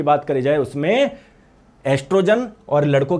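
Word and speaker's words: estrogen: लेकिन बोलेंगे जब ओ साइलेंट रहेगा। ठीक है? देख लो। देख लो, देख लो, देख लो। कहीं लिखा हुआ है क्या? टेस्टोस्टेरोन इन मेल और एस्ट्रोजन इन फीमेल।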